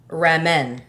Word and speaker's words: ramen: the way we wanted to hey we can pronounce Ramon the way we want to reinvent it Raymond Raymond Raymond noodles Ramon no tea no d so is it rainbow noodles ramen it's ramen noodle yeah okay I think Ramona